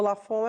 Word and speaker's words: Lafond: nome escreve porque o meu lafon é com B mudo se escreve com n